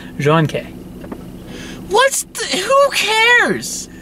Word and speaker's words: Jun. K: just because it bugs you Yong Jun K John K that's how I say that that is how you say it room case pronounced John Kay what's who cares say - I like I'm